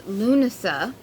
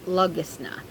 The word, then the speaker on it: Lughnasadh: it's the pronounceable name the other name is lunasa but it's spelled lugisna and as embarrassing as it is